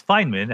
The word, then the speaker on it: Feynman: and do you agree yeah it's Feynman how he pronounced it and what he actually